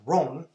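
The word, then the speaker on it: Рон: uh it's not pronounced it's pronounced Ron and it's cilic and and here's the story behind that so it simply says Ron in Russian and uh when I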